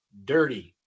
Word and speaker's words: dirty: En el inglés americano, con esta combinación RT, la T no se pronuncia como una t normal, una T como en español, sino casi como una R en español. Por ejemplo, tenemos la palabra dirty. Dirty, sucio. En los Estados Unidos no decimos dirty, así hablan en Inglaterra.